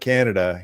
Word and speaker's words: Canada: I'm on my second can of Canada Dry. It's starting to just come out on its own. That's 2 syllables also, by the way.